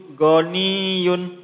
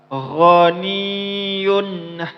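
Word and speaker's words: غَنِيٌّ: Maka jangan dibaca gooniyun goniyun. Kalau bacanya g maka itu kurang tepat. Insyaallah yang benar ialah gho gho gho vokalnya kurang lebih sama h sama ha ghaniyun hamid wallahu ghaniyun hamid faidza jaati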